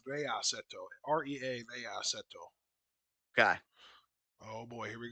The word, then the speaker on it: Rea: boot there Rea it's it's Rea like re EA so wherever you're looking